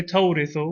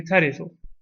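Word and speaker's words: ترث: We don't say tawrithu, we say tarithu.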